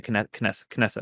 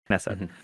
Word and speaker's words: Knesset: The Knesset, I pronounced that correctly, right? Knesset, right?